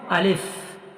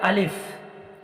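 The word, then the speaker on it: ألف: করতে হবে এই যে আলিফ আলিফ উচ্চারণ কোথা থেকে হয় সেই জায়গাটা আমাকে জানতে হবে দেখুন আলিফ মুখের খালি অংশ থেকে উচ্চারিত হয় আলিফ মুখের খালি অংশ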